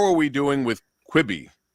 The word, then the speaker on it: Quibi: greg is on qb how do you say that quitting quickly or yeah quibby yep it's like uh what